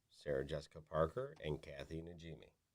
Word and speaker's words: Najimy: Jessica Parker, and Kathy Najimy. Najimy, that's how you say it.